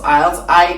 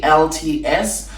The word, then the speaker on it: IELTS: And another thing is that IELTS, yes, it's pronounced IELTS, IELTS, which many British universities actually accept, usually doesn't have a lot of days available.